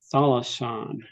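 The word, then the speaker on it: θάλασσαν: Thalasan. See the accent on the first syllable.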